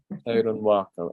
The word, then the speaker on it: Teharonhiawako: Yeah, I was saying it wrong for quite a while until I actually heard a person from one of the nations of the Iroquois actually pronounce it. Teharonhiawako.